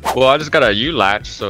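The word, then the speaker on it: ULACH: I just got a u latch so it's pretty good are you locked you locked yeah depending on what pronunciation you have but most players like I call it you lot it's maybe a month old the window is 11.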